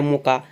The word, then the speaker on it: Mocha: इसको इंग्लिश में MOCHA बोलते हैं इनको, यानी कि इंग्लिश में इसे मोचा बोलते हैं, हिंदी में मोखा या मोका इसका उच्चारण रखा गया है।